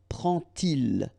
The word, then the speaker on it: prend-il: And so this little d here is in red just to show you that you won't pronounce it like d to make the liaison, but you will pronounce it like t.